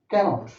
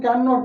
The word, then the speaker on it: cannot: সো আই ক্যানট পুট up with, I ক্যানট, বলে দিচ্ছি এটা কিন্তু ক্যান নট নয়। ক্যান আর নট আলাদা থাকলে উচ্চারণ ক্যান নট, আর একসঙ্গে থাকলে ক্যানট।